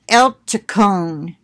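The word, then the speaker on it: Eltekon: Pronunciation, Eltaquan.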